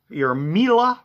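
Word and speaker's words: Miele: So you can put your Mila, which rhymes with Sheila, or Sibo, which is a vacuum cleaner brand I sell.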